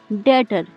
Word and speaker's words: debt: डेट। यहाँ पर भी बी के बाद टी आ रहा है, इसलिए यहाँ पर बी साइलेंट है।